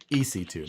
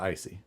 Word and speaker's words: EC2: with an ic3 connector or ic2 ec2 connector ec2 not icy yeah as I just